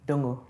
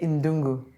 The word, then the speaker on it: Dongo: So we went out, I now know how to pronounce the name Dongo. Oh. I used to say Indungu, but it's Dongo, right?